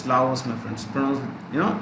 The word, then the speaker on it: Laos: also so right laos many people don't pronounce the s it's lavos my friends pronouns you